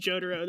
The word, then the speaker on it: Jotaro: I'm pretty sure it's pronounced Jotaro. That's how Pat says it.